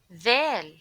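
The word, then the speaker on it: ذ: Dal. When you pronounce Dal, please put your tongue between your teeth.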